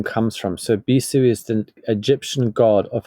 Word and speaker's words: Bisu: So your company, I think, is pronounced Bisu, and you have something which I... No, so, please correct me. We say Bisu.